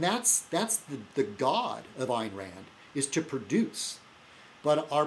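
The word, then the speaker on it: Ayn Rand: that you know and the Iranians that it's pronounced Ein Rand um very upsetting we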